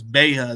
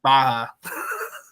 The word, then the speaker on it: Baha: it mispronounced sometimes but now I know it's beha not Baja well I mean you know it's an Arabic name so it might be Baja but it's it's I've